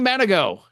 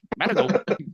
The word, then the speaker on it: Mandigo: Off air, said something to the fact that even his own band members still mispronounce his last name. Sometimes they do. Yeah, yeah. They're like Mandigo. Ah, crap. No, I didn't say it. Yeah, happens all the time. Manigo, Manigo, Yeah, Manigo.